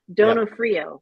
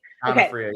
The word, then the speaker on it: Donofrio: Donofrio, and I know I'm pronouncing your last name wrong. Donofrio, right? Donofrio, yep.